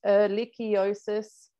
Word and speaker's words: Ehrlichiosis: been the detections of eliciosis in australia so elechiosis it's a bit of a mouthful it's pronounced erlichiosis it's caused by the bacteria alikia canis and